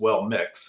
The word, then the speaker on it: WellMXS: And to your point, speaking of the name, just to take that head on, they basically, their official name is WellMix, is how they pronounce the WellMXS, and that came from a